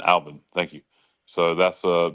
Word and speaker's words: Albin: Um Tim Alban. Yeah, Alvin. Alban.